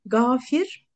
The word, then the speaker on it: Gafir: Gafir, Gaffar ve Gafur isimleri. Tabi bunlar gayın harfiyle ama Türkçe'de biz onu G ile telaffuz ediyoruz.